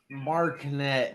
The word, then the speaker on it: Marinette: pronounce that Marinette. It's actually French.